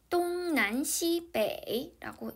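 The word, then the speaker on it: 东南西北: 중국에서는 동서남북을 동남서북이라고 표현합니다 중국어 발음으로 읽어보면 똥 난 씨배라고 읽어요 자 들어볼까요 한번 페이지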